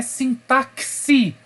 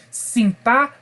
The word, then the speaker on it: sintaxe: língua é a sintaxe a atenção não é sintáxi ok é sintas e enxergue aquele x como se fosse dígrafo ss sintaxe c essa é a pronúncia correta deste termo tudo bem bom que